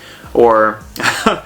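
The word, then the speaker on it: お: And then finally, we have the O, which is pronounced O. Okay? So, like in Oklahoma.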